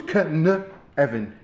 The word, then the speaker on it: Cynefin: It's pronounced like Kevin, with a N. So it's Cynefin.